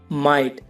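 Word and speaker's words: might: नहीं बिल्कुल शांत रहे for example guys फाइट माइट और नाइट इन सब में वर्ड के लास्ट में जीएसटी है इसमें जीएच साइलेंट है फाइट फाइट की हिंदी है लड़ाई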